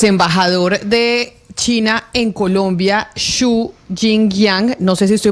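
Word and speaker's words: 朱京阳: Pronúnciele usted para ver si aprendemos nosotros a cómo se debe pronunciar en perfecto mandarín. Chu Chin Yangyang. Chu Chinyang.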